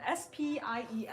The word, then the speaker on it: spiel: And Jane Burns said, good to know, and it's spelled S-P-I-E-L.